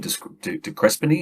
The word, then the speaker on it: de Crespigny: no disrespect to Champion de Crespigny, is that how I pronounce it? Champion they say de Crespigny, but yeah. De Crespigny, okay, leave the S out.